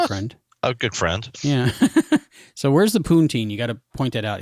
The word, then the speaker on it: poutine: friend a good friend yeah so where's the poonteen you gotta point it out is that how you say it poutine poutine yeah i think he's eating it right